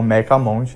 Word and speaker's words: Mechamonte: Muitas pessoas também falam meca-monte, não existe uma pronúncia exata.